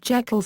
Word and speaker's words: Jekyll: Stevenson's pronunciation of Jekyll used a "long e" sound (/iː/), which was the pronunciation used in Stevenson's native Scotland.